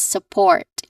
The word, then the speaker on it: support: Now as um clearly from what from how I say it the stress syllable is the second syllable port which has a a little bit longer vowel sound. So we say it as support again support.